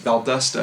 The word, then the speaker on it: Valdosta: Valdusta I think is the way that it's actually pronounced.